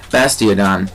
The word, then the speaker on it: Bastiodon: Dion wow I said it like Leo hello bastiodon that's how you say it so I'm going